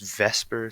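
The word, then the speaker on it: VSEPR: atom and that's because it's based on the vasper theory it's spelled v p and it's Vesper Theory and this stands for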